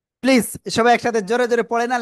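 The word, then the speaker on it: ص: অক্ষরটা কি অক্ষর আসলে জিহ্বার আগা সামনে নিচে দুই দাতের পেট আগের সাথে লাগাব লাগিয়ে মোটা আওয়াজে আমরা উচ্চারণ করব সবাই একসাথে প্লিজ জোরে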